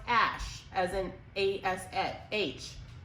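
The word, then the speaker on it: Æ: intelligence and in its yeah and it also a I like artificial also the word love in a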